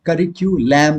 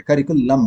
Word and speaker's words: curriculum: करिकुलम में करिक्यूलैम नहीं बोलते, करिकुलम बोलते हैं, लम।